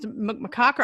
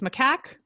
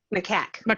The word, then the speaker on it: macaque: take for uh for is mccocker i'm saying it wrong it's macaque macaque okay so how long